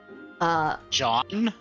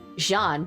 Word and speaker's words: Jean: John? Jean, yes, Jean. Oh, Jean. Jean. I thought John is in Jean. J-O-H-N. Jean, like Joan of Arc.